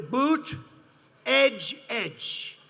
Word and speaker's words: Buttigieg: And they said, here's what you do. Boot, edge, edge.